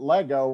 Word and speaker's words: Lego: One of the first things that I thought was that Lego rhymes with let go.